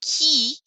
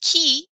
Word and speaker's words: qui: wah sound qua what and then ki there's that k sound ki means who to say who is